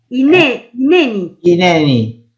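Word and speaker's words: הנני: Hineni. Claro, yo la H la pronunciaba como una J, entonces yo sabía que estaba mal.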